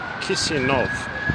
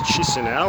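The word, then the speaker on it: Chișinău: capital city of moldova which is pronounced i believe kisian nov i've always thought it was chisinau which i understand now is incorrect so here we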